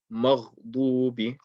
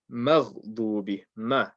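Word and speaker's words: مَغْضُوبِ: Don't say ghayril maghdubi. Saying maghdubi is incorrect. You have to say maghdubi. Maghdubi. Don't say magh, say magh. So in making the ghain heavy, you have to make sure you keep the mim light.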